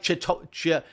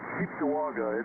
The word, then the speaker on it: Cheektowaga: Is that, am I saying it right? Chictagua. Chictagua, something like that, right? Yeah, you're pretty close. It's Cheektowaga.